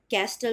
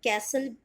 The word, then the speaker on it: castle: First word है CASTLE, कैस्टल तो आप बोलोगे नहीं, टी है साइलेंट, लेकिन आप फिर भी इसे आप कैसल, कैसल बोलोगे, ठीक है, कासल नहीं बोलोगे।